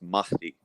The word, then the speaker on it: Mahdi: different on it and by the way it's pronounced mahdi um okay that because and the reason why